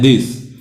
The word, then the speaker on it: this: और यहाँ पर स, लेकिन इसकी स्पेलिंग को हम उच्चारण करते हैं दिस।